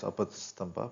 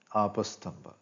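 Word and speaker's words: Āpastamba: When usually written in English, the diacritic mark of prolonged A is left out. So one tends to read it as Apastamba, but the Sanskrit pronunciation is Apastamba.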